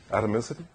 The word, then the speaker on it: atomicity: you're you're a native speaker how do you pronounce this yeah what he said right atomicity thanks mom right so so basically the idea